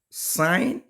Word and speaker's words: sine: and these ratios are sign it is spelled sin but it's not sign the short form is s i n but it's not sin it's sign so the ratios are